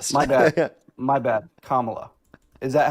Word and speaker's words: Kamala: Kamla, how is Kamla racist? My bad. My bad. Kamala, is that how you say it?